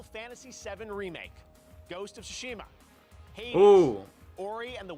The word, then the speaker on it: Tsushima: In the category of Best Art Direction, the nominees are Final Fantasy VII Remake, Ghost of Tsushima, Hades, Ooh.